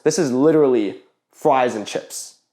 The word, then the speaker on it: 吃: It does still have the meaning of to eat, but commonly instead they choose to use this one, which is chi, chi or heck in Cantonese.